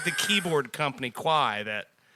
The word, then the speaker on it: Kawhi: Kwai.